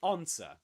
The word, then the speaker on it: answer: What is silent here is the W.